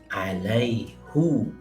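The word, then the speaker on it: عَلَيْهُ: Dan kabilah Quraisy yang merupakan kabilah di mana baginda Rasulullah SAW dilahirkan, membaca alaihu, itu adalah bahasa Arab Quraisy asli. Mereka membacanya dengan hu. Jadi dari segi bahasa sebenarnya itu ada dalam bahasa Arab.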